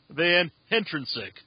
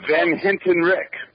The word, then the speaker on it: Van Hentenryck: And we He's got a hard last name to pronounce, but it's Kevin Van Hentick. Is that right? That's close. Van Hintenrich.